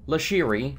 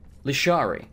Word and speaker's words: Lashari: See, this says Lasheri. Her name is actually Lashari. And she made a point of mentioning that that the old dude got her name wrong.